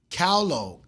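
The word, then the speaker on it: Kahlo: Um, I think her name is Freda Callo. Callo, Callo, K A H L O. So, if you know how to pronounce that, shout out to y'all.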